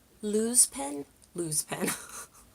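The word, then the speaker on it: Luxe: what is it called lose Penn lose Penn it's like Lu XE like luxury lose that's not how you pronounce that anyways it's a felt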